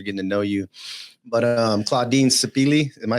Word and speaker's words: Claudine Sipili: But Claudine Sipili, am I saying it right?